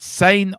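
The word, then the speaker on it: Sané: It said sane offered Sain's been offered a rumoredly been offered a four years.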